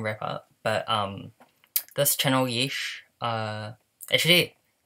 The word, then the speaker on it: YEESHIH: I pronounce it as YEESHIH, YEESHIH, YEESHIH, YEESHIH, YEESHIH.